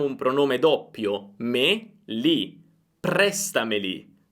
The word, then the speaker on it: prestameli: Prestameli, prestameli. Io non dico presta, prestameli. Non cambia, perché questi pronomi non hanno un accento, l'accento rimane su presta.